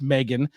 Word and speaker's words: M3GAN: it again but uh Meg which is with the three uh pronounced Megan is a 2022 American